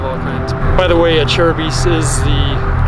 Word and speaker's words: Acerbis: uh like a h chair as in the chair you'd sit in and then bees like plural for a bumble bee so a cherubies is how you how